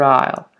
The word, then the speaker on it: aisle: in the other aisle okay not aisle the S is silent the other aisle so Rob perfect leash